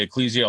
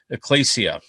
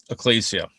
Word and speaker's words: ecclesia: um ecclesia we say i hear people say ecclesia all the time but according to strong's and thayer it should be pronounced ecclesia so just so you know ecclesia and i am going to say either ecclesia